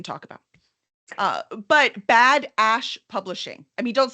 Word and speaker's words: Ash: was funny especially with how many people mishear it and misspell it I'm like no it's Ash a-s-h publishing I love it well